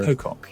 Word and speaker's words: Matt Pocock: So it would be the correct pronunciation would be like Matt Pocock? Or Matt Pocock, yes, exactly.